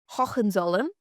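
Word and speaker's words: Hohenzollern: Now the royal family of Prussia was the house of wait for the pronunciation Hawen Zolum who ruled Prussia for over 900 years nearly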